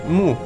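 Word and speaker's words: 木: The character rest, we said it, is pronounced xiu, while the radicals are pronounced ren and mu.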